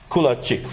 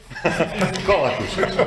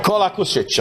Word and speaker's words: Kolakušić: And another colleague from Croatia, Kulačić, right? Do I pronounce it correct? Right now, what? Kolakušić. Kolakušić, I know it's tough with all these names.